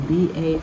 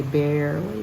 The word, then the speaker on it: barley: in verse 9 there's the word barley b-a-r-l-e-y attempting to say barely but it's not that barley is the grain barley and certainly um there